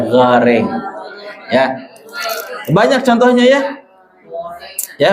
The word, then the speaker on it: goreng: dan harus pakai bahannya minyak goreng bukan guring ya goreng ya banyak contohnya ya